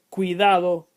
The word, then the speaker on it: cuidado: Note that the second weak vowel is pronounced more fully than the first. Cuidado, ciudad.